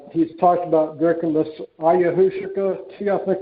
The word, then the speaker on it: ayahuasca: There's a guy that he's talked about drinking this ayahuasca tea, I think it's pronounced, and that gave him a real magical experience drinking this ayahuasca tea.